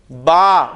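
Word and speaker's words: ب: अब हम अरबी लफज़ में जब बे आएगा तो हम उसे बे नहीं बोलेंगे बल्कि क्या बोलेंगे? बा।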